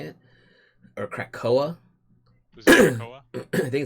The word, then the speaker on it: Krakoa: But what's cool is it's basically about Xavier setting up an island for mutants called, I think it's Krakow is how you say it, or Krakoa.